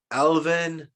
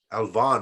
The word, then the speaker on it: Elvan: some very interesting personality alvin rahman alvan rahman actually i should say is more properly pronounced your name right uh